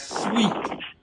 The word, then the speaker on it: suite: open your ears you got to focus it's sweet they call it a sweet not an apartment